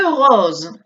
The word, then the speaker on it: rose: Le rose. Mirad cómo pronunció la S. Está entre dos vocales. Hay una única S. Es una S sonora. Rose. Zzz. Vous voyez? Rose.